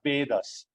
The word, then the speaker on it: Vedas: Now the first component of shastras is the vedas. So you will see again E in capital A in capital it's not Va it is Va right. So long E and long A.